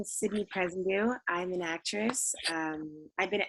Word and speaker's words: Sydney Presendieu: So, guys, today I'm here with fellow member of the Women in Film Project, Sydney Presendieu. Is that how you pronounce it?